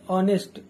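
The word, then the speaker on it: honest: में आप कहो कि नेस्ट का जो उच्चारण होता है वह होता है ऑनेस्ट ऑनेस्ट इसके अंदर एच साइलेंट होता है तो ओ का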